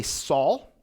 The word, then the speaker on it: Saul: just want to say that with me say Saul now it's not like the saw that you